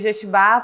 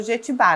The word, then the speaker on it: Jetibá: E Jetibá por causa da árvore Jequitibá, mas o pomerano não pronuncia o Ki na hora de falar, então virou Jetibá, né?